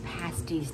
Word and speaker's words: pasties: So how do you pronounce that? Pasties, not pasties.